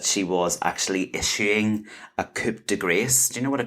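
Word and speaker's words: coup de grâce: Oh, and coup de grace. Oh, you said it wrong. Coup de grace.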